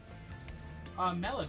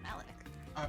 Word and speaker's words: Malik: Melik, what games are you playing on your phone? Malik. Not Melik, Hack.